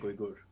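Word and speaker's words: Uygur: So his last name is pronounced the same way as Uyghur, like Cenk's. Yeah, I'm pretty sure it's Cenk Uyghur. That's wild. Cenk Uyghur, yeah.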